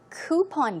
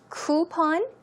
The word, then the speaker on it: coupon: fashion cataloges or also coupon books now this word is actually pronounced two ways it can be pronounced coupon ooh or coupon cpon